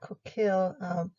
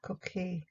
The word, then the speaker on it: coquille: American pronunciation is more like coquille. French is more like coquille, like the L is more silent. I'm going to go with American pronunciation. It's easier. It's coquille.